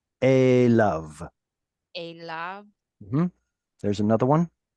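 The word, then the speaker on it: אליו: Adonai, uh, al, al, Yibe, Unfortunately, we don't pronounce the yod anymore here. Whenever you see yod vav at the end of the word, don't pronounce the yod. And then these 2 dots here, whenever you wonder what sound they make, you have your answer.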